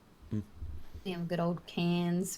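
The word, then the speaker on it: Cairns: They have good old Canes, which is not spelled that way, but that's how we pronounce it.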